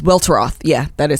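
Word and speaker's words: Welteroth: name I think it's well well drop its welter off yeah that is how you pronounce it well trust her she says it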